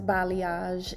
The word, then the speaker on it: balayage: because a balayage, and I know sometimes people have problems, difficulties pronouncing it, but it is balayage, and what that just means is hand painting.